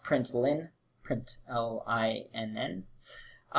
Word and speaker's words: println: dot out dot println note that L is an L and it's pronounced print line' print ell I and